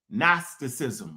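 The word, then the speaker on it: Gnosticism: I mispronounce it. Okay. Nasticism without the G. Anybody been around me know I've been fucking that up for years. I put the G in there.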